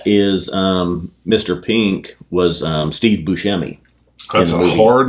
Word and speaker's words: Buscemi: Pink was Steve Buscemi.